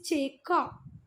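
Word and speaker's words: Chaco: Again I am saying sorry, it इज चेका, ठीक है, मैंने गलत प्रोनाउंस किया, चेका।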